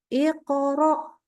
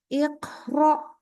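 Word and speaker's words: اقرأ: ketika dia sukun ya jadi contoh Iqro Nah kita bacanya gini nih keluar udara dikit sehingga dibaca Iqro Iqro ah pokoknya ada keluar udara itu kerasa banget i nah ini ada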